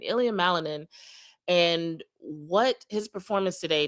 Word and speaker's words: Ilia Malinin: Ilia Malanin and what his performance today tells us about mindset and pressure and performance.